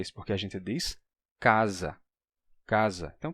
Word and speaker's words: casa: ter aa casa e é por isso que o s entre vogais se pronuncia como Z casa porque ele ganha a